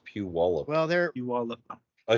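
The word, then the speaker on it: Puyallup: just can't say it you got to get the wallup in there apparently that's what they say it's Pew wallup well there pe wallup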